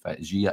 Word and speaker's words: Djiga: But a guy like that I think an experienced defender coming in um because uh Jiga or as the Jers Gazette says it's pronounced Jia. So there you go. Gia and the Fernandez.